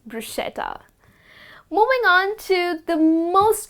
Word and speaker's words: bruschetta: you spot this well we all tend to pronounce it as bruschetta but it is bruschetta well it is a grilled bread which is topped with some olive oil with some herbs and with some chopped tomatoes and garlic it's delicious but the correct way to pronounce it is bruschetta and not bruschetta moving on to the